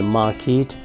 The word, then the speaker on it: market: आई वॉज a shopkeeper in द मार्केट। देखिए मैं पढ़ रहा हूँ मार्केट, ये आर को साइलेंट कर रहा हूँ, यहाँ पर आर को साइलेंट, मार्केट।